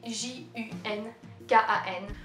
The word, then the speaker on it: Junkan: Moi je prononce Junkan, mais j'ai le droit des fois à Junkan, ou Junkan, ou Junkan, ou Junkan, des trucs comme ça.